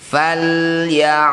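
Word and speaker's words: فليعبدوا: Falyabudu, ain ini punya sifat namanya tawassut ya. Tawassut itu di tengah-tengah antara syiddah dan rokhawah, antara ditahan dan dialirkan. Jadi sederhananya ain ini cara bacanya dialirkan tapi sedikit saja.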